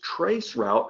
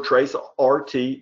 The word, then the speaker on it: Traceroute: Well, that's exactly how the Windows Traceroute application works. Now, this is Traceroute or TraceRT. This is not TracerT. I'm not going to pronounce it that way, and shame on you, any of you who are laughing right now.